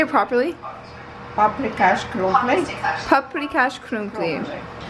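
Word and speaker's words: paprikás krumpli: Paprikash crumpli.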